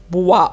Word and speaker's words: bois: je mange des croissants et je bois يعني اشرب، bois او اي تنطق وا، والاس هنا مش هتتنطق.